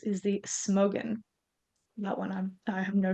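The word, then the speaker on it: Smögen: Uh, whiskey number 5 is the Mortlach, and whiskey number 6 is the Smogen. That one I have no shot of knowing if I pronounced it correctly. No, that's correct. Yeah, Smogen.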